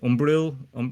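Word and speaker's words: Umbriel: The whole reason you're doing this is because Panel Wastrake, he failed to beat what's his name, Umbril, is how you say his name.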